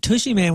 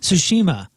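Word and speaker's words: Tsushima: I'm a smoker oh the ghost of tushy man was Jeff Burton mispronouncing the game Ghost of sushima when we were talking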